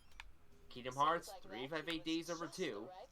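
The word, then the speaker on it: Kingdom Hearts 358/2 Days: Kingdom Hearts 358 Days Over 2. And yes, that is how it's pronounced.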